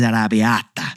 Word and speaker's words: arrabbiata: That pasta is arrabbiata. Whoa, that is not how I would have said that. I leaned into it, and that was the correct pronunciation.